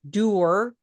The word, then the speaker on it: Dwr: what do you want to know about about dur that's his name it's spelled dwr but it's pronounced dur dwr hang on a second ly ly here